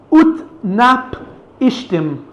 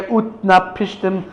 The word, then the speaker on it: Utnapishtim: The guy's name, I think this is the way you pronounce it, Utnapishtim.